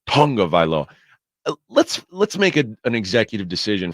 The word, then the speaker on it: Tagovailoa: It's Tagovaiola. Taga. It's spelled Taga, but we say Tunga. Tagovailoa.